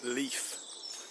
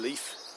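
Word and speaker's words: Leith: Hey, um as part of Edinburgh Marathon, you run through Leaf. Leaf, you know, I'm stretching that to leaf. That's how I pronounce it.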